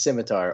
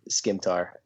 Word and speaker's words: scimitar: So basically the same thing, but pronounced differently. Better. Yes, points all around. The correct answer is scimitar or skimtar.